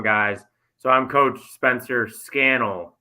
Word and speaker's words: Scannell: Scannell like flannel.